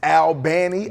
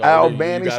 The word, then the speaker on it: Albany: You know you're saying it wrong. It's Al Banny. Al Banny.